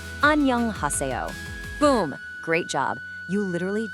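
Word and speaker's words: 안녕하세요: Let's sound this out nice and slow together, syllable by syllable. Annyeonghaseyo. Let's try it one more time, all together now. Annyeonghaseyo.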